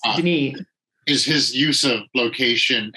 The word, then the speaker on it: Denis: amazing things about uh dennis did denise you said that you're pronouncing denise yeah french she's french-canadian so it's denise is his use of